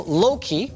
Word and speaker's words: Louqe: So even though Loki, I've been told it's pronounced, did go and build